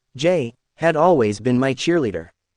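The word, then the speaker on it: Jai: want to do it Jay pronounced Jay had always been my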